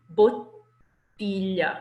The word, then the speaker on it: bottiglia: Bottiglia. You have to linger on that first thing. It's as if someone had interrupted you abruptly while you were saying it, and you have to hold it.